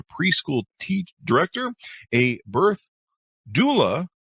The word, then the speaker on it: doula: career as a preschool teach director a birth Doula not sure I got that pronounced right you did pronounce that right did